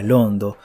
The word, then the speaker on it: Londo: En enoquiano, la palabra reino se pronuncia Londo, demasiado similar al nombre de la capital de un reino que por aquel entonces se hallaban serios aprietos políticos.